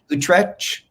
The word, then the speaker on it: Utrecht: a BA in film studios at, I can't pronounce the name of your university, Utrecht?